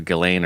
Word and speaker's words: Ghislaine: It has an S in it, but I've heard it pronounced with the S or without. So Ghislaine or Ghislaine.